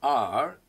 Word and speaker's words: hour: When you say R, your H is not pronounced. It is silent.